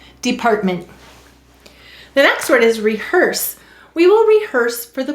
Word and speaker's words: rehearse: underline the er and why do we have a silent ian rehearse it is to keep it from